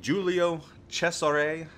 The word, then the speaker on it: Giulio Cesare: The Giulio Cesare is on its way, and that is how it's pronounced, or close to how it's pronounced. Maybe not exact.